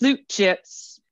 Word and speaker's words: slap chips: my two favorites were the slap chips often pronounced slute chips from South Africa they're